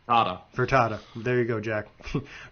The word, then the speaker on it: Fertitta: Yeah, I think the one thing the Nets have benefiting them against Philly is that Tillman Fertitta isn't going to want to deal with Daryl Morey. It's pronounced Furtada.